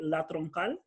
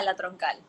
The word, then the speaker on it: La Troncal: Correct me if I'm wrong with the pronunciation. Is it La Troncal? Yeah, La Troncal.